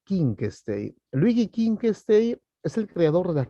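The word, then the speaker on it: Wittgenstein: bien vamos con luigi king stage escribe being stage se pronuncia con ca inc state luigi king stage es el creador de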